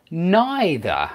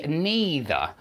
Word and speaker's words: neither: And also neither, and a lot of students now, a lot of people now in England say neither, and knee does rhyme with B.